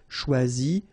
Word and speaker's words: choisi: Same rule, you don't pronounce them, so phonetically you will have choisi, choisi, choisi, choisi, choisi, choisi, choisi, and choisi. So the same phonetical form, okay?